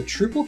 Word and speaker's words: Troupple: never heard of the truple king half oh trle so trout Apple half trout and half Apple pronounced like mouthful trouble one of the forest